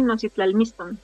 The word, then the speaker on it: Nositlalmiton: correcta de del título no miston o si lo digo bien sí está está perfecto así nol miston está muy bien Oh Okay okay va